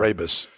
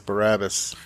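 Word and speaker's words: Brabus: Barabus. I've heard of them, but I I don't know anything about them. I've always mispronounced it as Barabbus.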